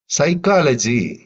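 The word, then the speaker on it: psychology: சைக்காலஜி இதுல பி சைலன்ட்டா இருக்கு.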